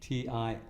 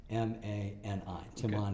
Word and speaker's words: Timani: There's another similar discipline that has taken off in Europe called Timani, and those are the three syllables of the originator's name. It's Tina Margarita Nielsen, so it's Timani, Timani.